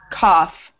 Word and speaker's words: cough: Cough. Cough. So in two cough. Examples, the GH makes an F sound, like an F, right?